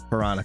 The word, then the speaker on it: Piranha: that's probably what happened I always say Panera I don't know why I read it like that but yeah I said it right this time piranha cards all right let's